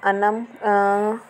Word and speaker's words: अनम: Pronunciation देख लेते हैं तो अनम को प्रोनाउंस किया जाता है ए एन ए एम अनम, कुछ यूँ प्रोनाउंस किया जाता है।